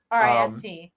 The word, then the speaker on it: Rift: RIFT. RIFT TV. Not riff like a comedy riff. Right. Yeah. No. So we're Rift. pronouncing the T's.